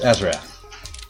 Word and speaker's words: Azarath: Yes, Azarath.